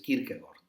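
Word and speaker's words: Kierkegaard: y el el danés senen Kirk gord se pronuncia así Kirk gord Bueno a los dos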